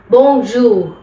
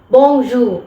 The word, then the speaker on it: bonjour: നിങ്ങൾക്ക് കുറച്ചൊന്ന് മനസ്സിലാവാൻ വേണ്ടിയിട്ട് അപ്പ എങ്ങനെയാണ് ഈ ബോജു ഈ ഇതിലെ ലാസ്റ്റ് ആർ എന്ന് പറയുന്നത് ഉച്ചരിക്കില്ല ബോജു ബോജു വളരെ പതുക്കെ അത് പ്രൊനൗൺസ്